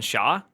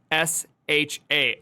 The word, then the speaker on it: SHA: Is there another pronunciation than SHA? S-H-A.